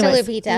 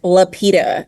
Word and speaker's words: Lupita: Like, no, where I'm from, like East Texas, I had to say my name as Lupita, as if it has a D in there, and it's actually Lupita.